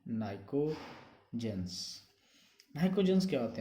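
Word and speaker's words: pnictogens: p silent होता है, p से स्टार्ट होते हैं, नाइकोजेंस।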